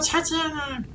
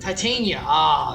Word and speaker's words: Titania: It's a children Tatiana. Oh, my bad. Titania.